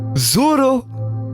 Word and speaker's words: Zoro: aussi cohérent c'est comme ça que ça se prononce tu dois théoriquement quand tu veux parler japonais domo domo japonais Zoro et c'est tout c'est il y a pas